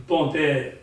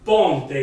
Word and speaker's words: ponte: La parola italiana è ponte, di conseguenza scriverò ponte in senese, e in questo caso la O si leggerà U. Perché io l'ho già letta in inglese, lo so già che si legge, che si dice U in genovese, però come la devo scrivere?